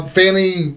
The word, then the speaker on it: Fannie: fashion he's like well apparently she pronounced it different than Fanny yeah F fny or something he goes no no no no no no people it's Fanny it's spelled like Fanny it's Fanny it's another word for ass well in